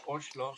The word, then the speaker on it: Oslo: i actually learned uh that norwegian pronounced also as ocelo from alexander so this